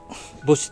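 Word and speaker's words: Bosch: これはですね、このボッシュ、ボッシュって読むのこれ。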